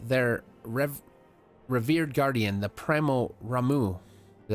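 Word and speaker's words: Ramuh: They have reason to believe that the Sifts may have called forth their revered guardian, the Primal Ramu. Is that how you say it? Yeah, Ramu.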